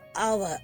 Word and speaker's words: hour: இப்போ HOUR அதை வந்து ஹவர் சொல்லக்கூடாது, அவர். இந்த ஹெச் வந்து சைலன்ஸ், ஆள் ஆரம்பிக்குது.